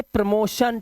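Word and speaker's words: promotion: इसी तरह से प्रमोशन, टी के बाद आई ओ आया तो टी के बाद अगर आई ए, आई ओ या फिर आई ई आता है तो टी का जो उच्चारण होगा, इसकी ध्वनि जो होती है वो शा की हो जाती है।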